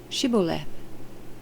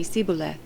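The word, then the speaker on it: Shibboleth: no i'm not they would tell him to say shiboleth if he was from ephraim he would say siboleth because people from ephraim cannot pronounce the word correctly then they would take him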